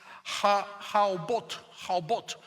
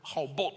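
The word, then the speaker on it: הָאֹבוֹת: Se pronuncia como una O porque esa se convierte en una vocal. Eso sería Haobot, es la palabra en hebreo.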